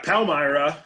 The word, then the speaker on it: Palmyra: on based on a uh moratorium ordinance in palmyra am i pronouncing that right yeah palmyra you don't know yeah yeah don't want to